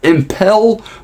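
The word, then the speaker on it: Impel Down: him without talking about the imple down AR or as it's pronounced impel but where I come from you got to shorten vows so it's imple down as we talked about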